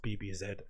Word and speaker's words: BBZ: I'm pretty sure it's pronounced BBZ from London.